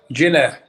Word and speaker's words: Ginner: How would you like me to pronounce the middle name? Ginner.